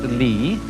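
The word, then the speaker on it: 理: world do you remember this word which is pronounced Li and which had as its original meaning the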